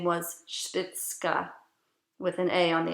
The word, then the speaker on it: Spitzka: again s-p-i-c-z-k-i-n her name was not spitz or stixx her name was spitzka it always had either